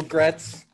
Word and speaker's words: Graetz: i want to welcome my guest today gretz uh am i pronouncing your name correctly yes okay